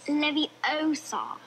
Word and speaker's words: Leviosa: it worked Gryffindor a Leviosa stop stop stop you're going to take someone's eye out besides you're saying it wrong it's Levi Oar not Leviosa you do it then if